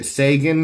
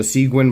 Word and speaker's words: Seguin: this one is called the Sagan or the siguen depending on how you pronounce it I've heard it from the kershaw people called the siguen but there's a hockey